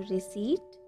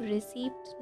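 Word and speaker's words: receipt: क्या तुम्हारे पास रसीद है, डू you have रिसीट, डू you have रिसीट। Friends यहाँ पर ये ध्यान रखिएगा कि जो रिसीट है उसको हम रिसीप्ट नहीं बोलेंगे, पी जो है यहाँ पर वो साइलेंट है।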